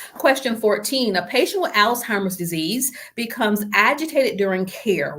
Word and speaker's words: Alzheimer's: And I know I pronounced it Alzheimer's, but it's Alzheimer's. Question 15.